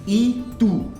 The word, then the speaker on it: y tú: आपको याद होगा कि y को इग्रेगा बोलते हैं, और जब इसका प्रोनाउंसिएशन होता है तो इसे हम ई बोलते हैं, ई टू, टू मतलब यू, ठीक है।